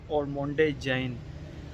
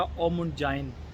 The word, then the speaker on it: Ormonde Jayne: बनाए हैं ऑलरेडी, और मैं इसके जो हाउस का नाम है वो प्रोनाउंस करता था ऑरमोंडे जैन। तो वकास अहमद से पिछले दिनों बात हो रही थी, तो उसने इसका जो नाम प्रोनाउंस किया वो प्रोनाउंस किया ओमुंड जाइन। तो उसने कहा कि जी अदील भाई, इस हाउस का नाम है ओमुंड जाइन।